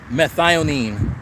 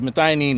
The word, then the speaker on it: methionine: that guy yep Billy so methionine M II th I in IO in E I think defining legacy spell it methionine so yeah it's not ruses oz